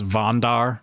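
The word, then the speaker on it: Wandar: And then the last one, because they're German, I'm going to pronounce this Vondar. W A N D A R.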